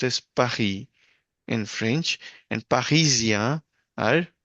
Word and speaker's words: Paris: Parisia Paris is pronounced as Pahi in French and Pahisia are Paris pe people from coming from Paris.